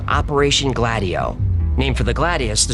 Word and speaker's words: Gladio: I know how to say it now, y'all. It's Gladio, not Gladio.